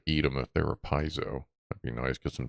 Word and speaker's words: piezo: I wonder if that's a like a piezo.